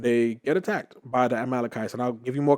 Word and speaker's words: Amalekites: um the malachites and i kept saying like mela and mila and i was just trying to pronounce it it was funny it wasn't that funny it was kind of sad but the amalekites and so down the